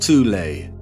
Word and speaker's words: Thule: called the soul society sometimes alternatively pronounced tulay that had sub-factions within